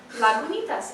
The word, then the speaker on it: Lagunitas: Lagunitas. It tells you how to pronounce it.